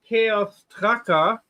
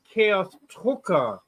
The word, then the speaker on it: Chaos Drucker: Oh, and you don't say Chaos Tracker, you say Chaos Drucker. That's okay. I'm sorry. I say Chaos Drucker because I can't pronounce it properly. Yeah, it's a U, Drucker. Okay. That's basically English, the German version for printer.